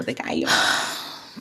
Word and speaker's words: gallo: The two L's in Spanish are pronounced like a Y. Pico deayo.